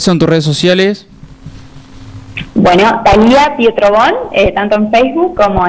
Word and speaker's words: Thalía: Thalía es sin H y es con... Sin en H. realidad, ajá, en las redes sociales no la van a encontrar con acento en la I, pero es con acento en la I. ¿No, Thalí? O sea, sí, para el acento va ahí aunque no se vea.